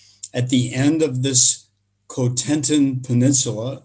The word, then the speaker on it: Cotentin: At the end of this Cotentin Peninsula, I'll use the American pronunciation. In French, it's Cotentin.